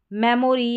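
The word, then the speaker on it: memory: फिर है मेमोरी या मेमरी, मेमोरी या मेमरी, दोनों तरीके से आप प्रोनाउंस कर सकते हैं।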